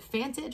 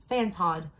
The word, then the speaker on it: fantod: And it is meant, all right, Fanted, first of all, I had to Google it. Your girl didn't know, and I have a doctorate degree. Fantad, or make sure I'm saying this right.